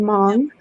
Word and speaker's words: Hmong: yeah, it's spelled Hmong, but you Oh, pronounce it no, Hmong.